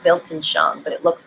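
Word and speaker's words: Weltanschauung: of linguistics it's called it's a German word and it starts with the W but it's pronounced with the v it's called built and shown but it looks like Welton Sean Belton Chung and it is your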